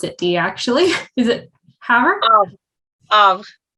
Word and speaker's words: Havre: Is it Havre? Of it's French, yeah. So I mean, I was thinking because it ends with an re, some people might just pronounce it Haver, because you know how we say center is re in Canada.